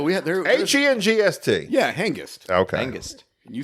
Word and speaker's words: Hengist: You said angst the way you should pronounce hangst. Why you hung up on this? First of all, just to be clear, there's no such word as hangst. There is angst. Oh, man. Hengist is a name.